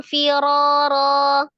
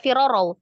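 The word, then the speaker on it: فرارا: Lawallaita minhum firara. lawalaita minhum firarau Jangan firoro. Firoro. Ro saja.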